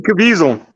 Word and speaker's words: Caviezel: gazelle Canada's alley something like that oh Jim Caviezel yeah yeah he does our Bible study on